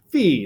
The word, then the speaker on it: phi: usually would rewrite as my pronunciation of fee by the way is probably different than everyone else you've heard right most people safe I